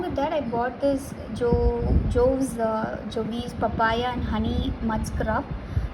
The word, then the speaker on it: Jovees: And now I pronounce it as Jovi's because that's comfortable for me. You can say Joves or whatever, however you want, you can pronounce it.